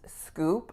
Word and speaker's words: scoop: that you just received so to pronounce scoop i think the most important part would be that vowel ooh ooh so make sure you're not putting in a pure ooh vowel otherwise it'll sound like scoop scoop so you don't scoop